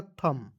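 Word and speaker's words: thumb: Silent करते हैं, और एम बी एक साथ आएगा तो इसको भी हम लोग साइलेंट करते हैं, तो क्या हो जाएगा थम।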